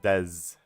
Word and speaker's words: Des: Des says, "Why do you pronounce my name Des when it's pronounced Dez?"